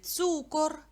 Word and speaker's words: цукор: у цибуля далі цу цукор складіть в себе звукову модель на який звук падає наголос на у цукор послухайте будь ласка розповідь